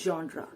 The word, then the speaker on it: genre: or gender but actually the real pronunciation is genre it means a class